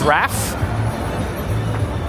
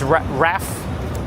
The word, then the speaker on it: Ralph: Wait, Ralph rhymes with calf. So it's Raph. All right. GPT lost its marbles. So according to GPT, it's Raph.